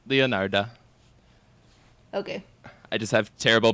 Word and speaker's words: Leonarda: said in the intro it's not girl Leonardo yeah Oh I thought you said Leonardo I'm like what no no leonarda okay I just have